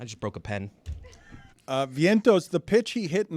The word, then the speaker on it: Vientos: post Major League hit am I saying it Vientos Vientos yes it's it's a in